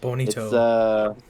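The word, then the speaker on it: Bonitto: It's not Bonita, right? It's Bonito.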